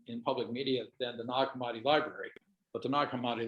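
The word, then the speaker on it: Nag Hammadi: is two words yeah it's not nog and hamadi porter um okay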